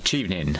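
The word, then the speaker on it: Chevening: How do you pronounce it? Uh chievening ching ching scholarship.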